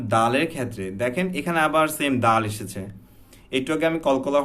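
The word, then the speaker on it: صمد: যেটা বলেছিলাম 5টা হরফ, সেম দালের ক্ষেত্রে আবারও এখানে জজম হয়েছে, দ্যাটস ওয়াই আমার এখানে কলকলা উচ্চারণ করতে হবে, আল্লাহু সমাদ। শুধু সমাদ, সমাদ এভাবে বলতে হবে না, আমাদের পড়তে হবে আল্লাহু সমাদ, সমাদ। হ্যাঁ, দে হালকা দে মতো সাউন্ড আসবে, দে এভাবে আসবে না, জাস্ট বাড়ি খাওয়ার সাথে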